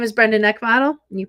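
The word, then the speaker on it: Neckvatal: of my day today my name is Brenda NE bottle you pronounce my name NE bottle like bottle and I am a solutionist I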